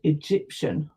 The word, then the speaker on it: Egyptian: Okay, I've used the word Egyptian because it's a country. It has a capital letter. And that's my soft G there because it's followed by a Y.